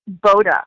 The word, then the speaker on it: Boda: We were in commercial breaks from the dog report, and he goes, Fightin Bauda, Hannah? And so we were just, it's been this long-running joke, but it's Fightin Boda, like boat.